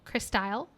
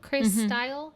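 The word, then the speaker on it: Crystyle: korean ep uh crystal chris style i believe chris style is how you pronounce it um and that kind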